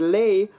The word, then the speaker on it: les: For example, if we look at the word lay, we can see that the S at the end of that word doesn't get pronounced.